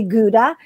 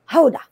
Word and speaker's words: Gouda: It's kind of like we say Gouda when it's actually Hoda.